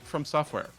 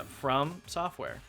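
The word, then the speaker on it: FromSoftware: Like, it's an up-and-coming game from this little studio called, I think, From Software. No, it's pronounced From Software. Oh yeah, From Software? No, it's one word, From Software. Yeah, From Software.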